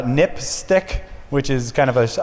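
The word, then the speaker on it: NPSTC: Safety telecommunications commission um which is just pronounced uh nipstick which is kind of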